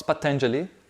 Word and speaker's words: Patanjali: I just can't pronounce the first word. Oh, it's Patanjali.